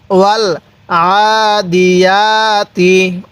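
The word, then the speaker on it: وَالْعَادِيَاتِ: ওয়াল আদি ওয়াল আদি আইনটার মধ্যে গলার মধ্যে চাপ দিলে আইনটা সহি উচ্চারণ হবে তাহলে ওয়াল আদি এই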